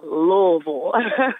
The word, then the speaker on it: Louisville: So just forget about the S and forget about the E in it. Just say Louisville.